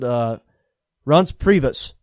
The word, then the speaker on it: Reince Priebus: Wolf, released an article here on Reince Priebus, I believe is how you pronounce it. Reince Priebus.